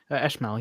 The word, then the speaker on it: Eshmel: Before we go, can I just kind of ask around about Eshmel? Is that how you pronounce it? Eshmal, yeah. Can I just kind of ask like what the What are you trying to situation find is?